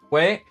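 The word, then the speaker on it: güey: It's just their way of saying like dude, and it can also be pronounced with like a G at the front, so it's like way, but it's kind of the same.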